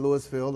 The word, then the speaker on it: Louisville: One of the things I thought was really good in Louisville, in Louisville or Louisville, depending on how you say it, Tuesday, when we first